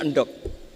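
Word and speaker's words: endhog: rawuh alhamdulillah alhamdulillah jadi karena dibaca Anduk tadi karena beliau orang Betawi terus dibenerin sama gurunya endok tapi setelah dibenerin murid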